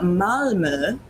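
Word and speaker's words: Malmö: of sweden from the city of malmo which is how you pronounce it i looked that up and um yeah so what they are it's got that uml out you got to get the uml out right um so the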